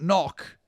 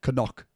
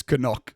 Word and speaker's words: Knock: It's not knock. One thing I've discovered, the correct pronunciation is Canuck. Is it? It's Canuck.